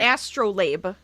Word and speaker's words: astrolabe: Astrolabe. Astrolabe. Okay. Astrolabe or Astrolab, I think that's how you say it.